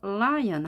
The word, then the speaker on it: lion: 발음법이 완전히 다르다고 했습니다 Lion 자 엘로 시작했기 때문에 입술을 이미 길게 늘린 상태에서 라이언 하셔야 됩니다 마치 alion 하는 것처럼 하면 정확한 말하면 되겠습니다 그 자리에서 라이언 하는 것이 아니라 에리 끝에 있게